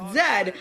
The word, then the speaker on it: zed: I am Canadian. And it's pronounced Zed.